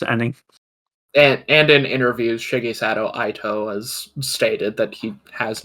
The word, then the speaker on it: Itoi: I think it is a toy. Yeah, Itoi.